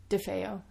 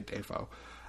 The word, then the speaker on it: DeFeo: the murdered child john how do you say the last name dave defeo defeo i was gonna say defoe um who lived in